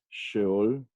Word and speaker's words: Sheol: Su pronunciación es Sheol.